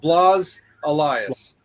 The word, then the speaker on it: Blas Elias: so if you ever meet bless did I pronounce his name right Jake um bless Aus the the former drummer from Slaughter yeah Blas Elias Elias he's like an expert at doing that